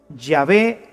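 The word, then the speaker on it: Yahweh: soy el que soy se pronunciaría o se diría llave ya ve te envía así es como habría sonado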